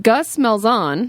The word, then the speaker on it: Gus Malzahn: But Gus Malzahn, is that how you say his name? Yeah, the I think UCF that's right. coach? Yeah, Gus Malzahn.